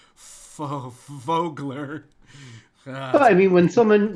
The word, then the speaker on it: Vogler: anyway I don't know I keep saying it like Germans pronounced that V that's a hard hit break yeah I I I I I'd say it the same way so it's like fogler well I mean when